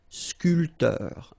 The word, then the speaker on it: sculpteur: This P here is not pronounced. So, sculpteur, un sculpteur.